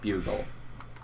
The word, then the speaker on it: Bugle: we get there then don't remember the Boston boggle building yes I know it's pronounced bugle but do you remember those chips Putte the